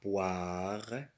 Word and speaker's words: poire: O-I se prononce wa. La poire.